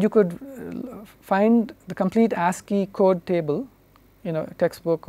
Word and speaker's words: ASCII: This is typically pronounced ASCII.